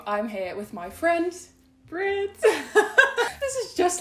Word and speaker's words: Britt: In Dutch it's like Britt. Britt, But here's like yeah. Britt. I want to say it like in the Dutch way, but then it's really difficult to switch your R like in the middle of a language.